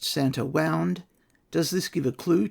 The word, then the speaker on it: Warna: The author is emphasising a difference in the spelling between Warna and the pronunciation which is W-A-U-N-D.